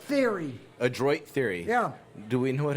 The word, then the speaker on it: Adroit Theory: say that brewery shot what's what's the proper pronunciation what he's cheating adroit right very adroit theory yeah do we know what adroit means that's